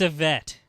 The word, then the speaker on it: Ivette: Yeah, it's a vet. All right. What's the vet's name? No. Her name is, it's spelled Ivette.